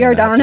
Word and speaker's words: Giordano: Giordano. All right, we'll go with that. Come on, I'm Italian. Giordano. I have to be able to say that. Giordano.